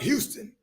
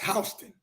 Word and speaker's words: Houston: I research every audience okay we're going to Houston County Georgia it looked like Houston but it's pronounced Houston research to know that so I researched the